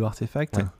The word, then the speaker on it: RTFKT: l'équipe de artefact pour si vous connaissez pas artefact ça s'écrit rtfkt donc sans les voyelles donc ça fait un